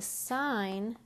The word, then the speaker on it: sine: change my marker here the sign function which is represented with just s i n but the whole thing is spelled sine so the sine is